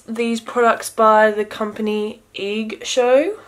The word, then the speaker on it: EIGSHOW: products by the company egg show i believe that's how you pronounce it eig show cosmetics brushes